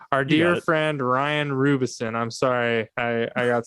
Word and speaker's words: Roubison: saying the last name because i pronounced everybody's name wrong rubison there you go yeah you got it you got it all right our dear friend ryan rubison i'm sorry i i got scared there i